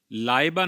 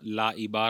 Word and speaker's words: Laiba: तो एक लबा की प्रोनाउंसिएशन हमजा के साथ होती है। लाबा स्पेलिंग है एल ए आई बी ए लाबा। बहुत सारी मां-बाप ने अपनी बच्चियों का नाम ला इबा रखा है।